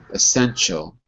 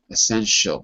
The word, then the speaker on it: essential: Essential. Essential. Yeah, it's a ch, not a sh.